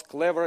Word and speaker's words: Clever: clever but also because clever in Russian is the word for clover yeah it's pronounced clever and four leaf clover